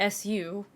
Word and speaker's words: SU: appreciate the shock armor importance of the Soviet SUs apparently comes around from the poor handling of terminology. The Soviets called their assault guns самоходные установки. Translated directly, this is something like self-propelled mounts. Abbreviated to SU, it's pronounced like SU.